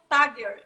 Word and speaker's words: Tagger: Estamos ansiosos aqui para a gente conhecer um pouquinho do Tagger. É assim que pronuncia?